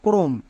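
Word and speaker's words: Chrome: করবো টেক এর ক্ষেত্রে আরেকটি নিয়ম হচ্ছে সি এইচ এর পরে যদি আর থাকে তখন সি এইচ এর জন্য ক উচ্চারণ করব সি এইচ এর ঠিক পরে যদি আর থাকে যেমন দেখো ক্রোম এই ওয়ার্ডটি সবার খুবই পরিচিত ওয়ার্ড এখানে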